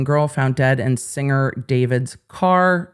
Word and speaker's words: D4VD: found dead and singer David's car. Again, David, spelled D4VD. I'm always going to just pronounce it David. His name's David.